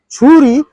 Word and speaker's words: Shuri: And Suri, it is to be pronounced as Churi, which translates to sword.